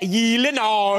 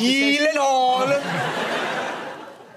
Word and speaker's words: Gyllenhaal: It is a Swedish name. So shouldn't it be like Gyllenhaal? Oh my God. I have Gyllenhaal. The only two places that that is pronounced correctly, my last name like you did just now, is in Sweden and in IKEA. IKEA.